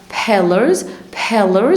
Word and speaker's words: pillars: تاني 5 pillars بطلع هواء في البي.